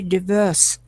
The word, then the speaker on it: diverse: and life is very diverse and rich and infinite. The history always repeats: chance, distance. Astronaut все-таки not. Astronaut, diverse. Второй слог ударный. Second syllable.